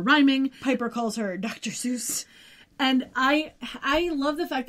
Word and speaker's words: Seuss: Seuss became his pen name and pronounced that way because he wanted the pronunciation to be associated with Mother Goose and because you know most people already pronouncing it that way and he added doctor